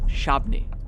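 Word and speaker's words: Shabbona: Raphael Wasuk drives through Chief Shabana Forest Preserve in Northern Illinois. He's a member of the Prairie Band Padawatami Tribal Council and a direct descendant of the chief whose name the Prairie Band pronounces Shabni.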